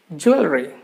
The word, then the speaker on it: jewelry: Many letters are mingled together, combined together, and make only a single sound.